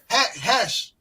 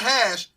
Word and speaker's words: Khash: This is Khash, not Hash.